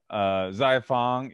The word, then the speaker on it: Xiafang: Why don't you give us maybe a little bit more detailed intro to Xiafang and... Xiafang. Say that one more time. Zaya, with like as in Z, I.